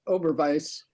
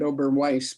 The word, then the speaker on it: Oberweis: here in Bloomington called Oberweis. Actually, they probably pronounce it Oberweis, but my German tells me it's Oberweis.